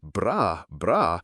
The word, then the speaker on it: bras: But in French, bras, note, no S sound at the end, means arm.